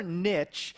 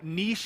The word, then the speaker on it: niche: And you know, niche is actually how you say it. But here in America, we say niche. If If you've ever heard marketers say the riches are in the niches, you know, it kind of rhymes.